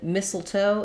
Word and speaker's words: mistletoe: both are correct and in mistletoe it is it is just missile so that sounds like missile toe mistletoe with first syllable stress um yeah um after